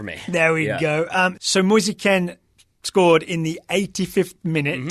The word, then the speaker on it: Moise Kean: a man whose net I've learned to pronounce his name as Musa Ken yep cuz that's how his mother pronounces it okay potato said if